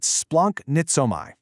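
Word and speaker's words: σπλαγχνίζομαι: To really understand it, we need to look at this fantastic, albeit totally hard to pronounce Greek word splaknizomai. Go ahead, try to say it, splunk-nitsomai.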